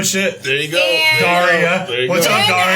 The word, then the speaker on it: Dariah: Daria. So sorry that we Daria.